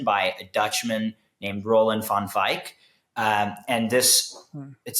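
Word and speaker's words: Van Wijk: a Dutchman named Roland Fonfik. Um and this it's spelled like Van Wig JK but light shaping life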